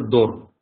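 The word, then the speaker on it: דור: значит гласов о Далее в начале ре в конце получается дор дор дор - это поколение дор третья строчка буква хэд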